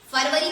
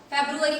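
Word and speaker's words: February: ये क्या लिखा हुआ है, फरवरी पढ़ते हैं आप इसको, फेब्रुअरी पढ़ते हैं गाइस। इसका सही प्रोनाउंसिएशन है फेब्रुअरी, फेब्रुअरी। Okay, फेब्रुअरी। आपको क्या पढ़ेंगे, फेब्रुअरी, नॉट फरवरी।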